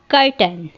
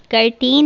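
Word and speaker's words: curtain: कर्टन, कर्टन मतलब पर्दा, कर्टेन नहीं कर्टन.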